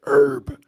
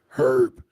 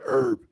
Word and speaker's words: herb: Well, here in America, we pronounce it herb, but in Great Britain or the UK, as you will, they pronounce it with the H, herb, but we pronounce it herb.